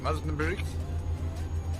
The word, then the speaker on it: Osnabrück: Nice little place, this Soundscape, Osnabrück. That's how you pronounce it.